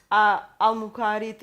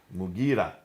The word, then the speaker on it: Mughira: Sorry for the Abdul pronunciation. Qais. Qais. In Syria, Al-Muqarid ibn Shuba. Mughira ibn Shuba.